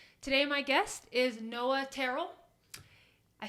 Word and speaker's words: Tyrrell: Today my guest is Noah Tyrrell. I said it right. I'm the best. Aren't I? Absolutely. Unlike everyone else in your life. It's not Tyrell.